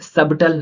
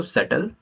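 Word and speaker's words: subtle: क्योंकि B silent है अब यहां पे सबटल ना पढ़ के हम क्या पढ़ेंगे इसको सटल राइट अब नेक्स्ट है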